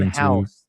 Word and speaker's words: Howse: John House, and it's spelled Howse.